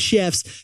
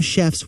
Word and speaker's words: Shef: you should know that it's spelled s-h-e-f so it's chef with an S because a majority of the chefs on Chef are women chefs they're she chefs that's why it's Chef now yetis here's what